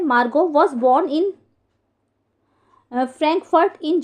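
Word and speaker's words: Margot: मार्गो तो यहां पर जो मार्गोट में टी साइलेंट है तो मार्गो है ये तो मेरी जो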